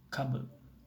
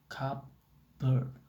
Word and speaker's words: cupboard: By contrast, the word cupboard, historically a compound of cup and board, is always pronounced cupboard and never cupboard, even in slow, highly articulated speech.